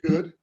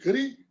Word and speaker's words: Goode: I said, "Goody?" And I said, "Well, the E is silent."